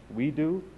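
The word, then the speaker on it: WEDO: We Do, is the right way to say it.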